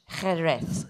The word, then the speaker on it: Jerez: devez corriger la prononciation, nous l'appelons sherry, c'est Jerez, Jerez, le Jerez, Jerez.